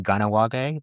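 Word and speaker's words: Kahnawake: It's actually pronounced Ganawage. Okay. The K is pronounced as a G.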